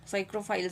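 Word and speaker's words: psychrophiles: साइक्रोफाइलस बोलेंगे शायद P silent होगा ना।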